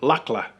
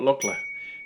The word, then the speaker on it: Lukla: p1 we'll start off with pronunciation it is pronounced look i know there's a few various shows out there that have called it luckler but if you want to win the locals over call it lochla and same with the country nepal very phonetic